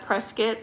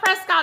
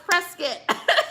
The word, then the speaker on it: Prescott: You said Prescuit. That's the right way. If you know, you know. I know. I learned Shane. I learned that I'll be watching the videos about how to pronounce these places in Arizona, right? I want to say Prescott. They're like, "It's not Prescott, it's Prescuit." So, I'm learning.